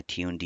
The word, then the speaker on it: tuned: Tune D pronounced as tune and D at the end. Tune is for system tuning and D is for demon.